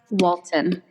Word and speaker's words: Walton: Sarah Walton. I pronounced it correctly? You did. You did. It's like the family on TV, right?